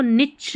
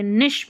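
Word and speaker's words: niche: फिर यह देखें इसको निच नहीं बोलते। निश बोलते हैं। निश निश निच नहीं निश यानी खास जगह या कोई विशेष क्षेत्र रहता है।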